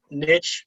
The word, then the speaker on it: niche: um as you know niche rhymes with rich and it's important to